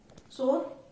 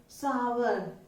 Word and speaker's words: sour: सार, सोर, सार कुछ नहीं है ये. इसका मीनिंग है खट्टा. जो टेस्ट में खट्टा होता है उसको बोलते हैं. इट्स प्रोनाउंस एज सावर. व की साउंड आएगी इसमें, सावर. हल्की सी व की साउंड आएगी, सार, ठीक है, इस तरीके से.